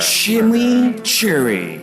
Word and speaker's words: chimichurri: more introducing Wendy's new shimmy Cherry cheeseburger chili Cherry that's how you pronounce it let it roll off your tongue then get ready for